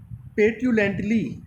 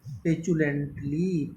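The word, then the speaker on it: petulantly: ऐसा कुछ पढ़ेंगे, सॉरी, पेट्यूलेंटली ऐसा पढ़ेंगे आप, पेट्यूलेंटली। तो ये प्रोनाउंसिएशन रॉन्ग है। तो पेट्यूलेंटली नहीं होगा, आप कहने वाले हैं पेचुलेंटली, पेचू, आप कहेंगे इसको पेचुलेंटली।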